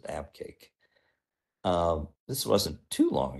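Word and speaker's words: Abqaiq: did cool all right abake I don't know how you know that that's how you're supposed to pronounce it but I'm told that's how you pronounce it abake um this wasn't too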